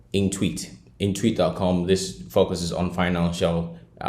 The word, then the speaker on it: Intuit: Now this website is called Intweet.